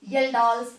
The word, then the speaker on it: Kjeldahl: Next method of estimation of nitrogen is येल्डाल्स method. इसमें K silent है, K को चुप करा दिया है, तो दिस इज येल्डाल्स. J से स्टार्ट करते हैं.